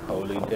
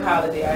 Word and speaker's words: Holy Day: Holy Day. Right. It's pronounced like holiday.